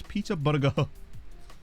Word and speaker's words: Peterborough: Which was Peter Burger. Which is the correct pronunciation, and I will not have anyone tell me otherwise.